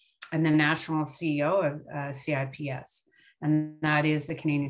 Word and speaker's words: CIPS: But so I'm going to tell you a little bit about who we are at CIPS. It's a hard C like bruschetta.